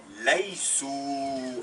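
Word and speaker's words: لَيْسُوا: n'êtes pas lestum, et ils ne sont pas laïsou, avec un alif qui ne se prononce pas.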